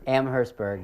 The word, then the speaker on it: Amherstburg: And so do you now, James, can you pronounce it? Is it Amherstburg? Amherstburg, yeah.